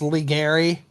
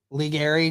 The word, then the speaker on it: Leary: Johnson and Craig young it's pronounced liary liary YouTube didn't have the